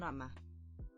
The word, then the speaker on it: home: It's not hombre like in Spanish, but it's I hear an A in there.